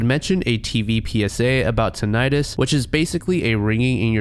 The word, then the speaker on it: tinnitus: The word you're going to hear me pronounce is tinnitus, but it's actually pronounced tinnitus, so please don't crucify me in the comments.